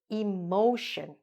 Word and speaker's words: emotion: 11, emotion. Okay? Emotion. Even though it looks like a short word compared to this one, it's still only 3 syllables.